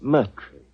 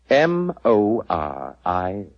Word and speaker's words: Moriarty: Dear me, I have so much trouble with my name. People will either misspell it or mispronounce it. I'm afraid I'll have to begin calling it the way it looks.